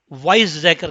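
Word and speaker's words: Weizsäcker: तो मैं इसको सारे को लिख रहा हूँ, और वो जो मास फार्मूला है वो साइंटिस्ट वाइज जैकर के नाम से फेमस है।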